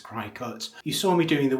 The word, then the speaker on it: Cricut: Interestingly, the Americans call them Cricut machines, but as it's spelt Cricut and as it's literally a cutting machine, I think I'm going to carry on calling it a Cricut.